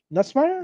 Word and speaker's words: Nussmeier: Garrett Nussmeier? Nussmeier? Yep. Straight up. Yep, that's how you pronounce it.